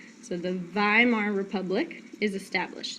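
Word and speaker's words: Weimar: is established and they establish the viar Republic so in German you pronounce W's like V's so the viar Republic is established it's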